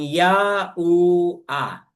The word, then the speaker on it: YaHUaH: ya u then another he which sounds uh pronouncing as ah kaya magiging ya u a ya u a ya ua mga kapatid yan